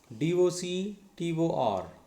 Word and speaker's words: doctor: one as t-sharp now d-o-c-t-o-r dock one syllable taw two syllables ending in r that is silent r okay so that's why stress should be on first syllable what is the first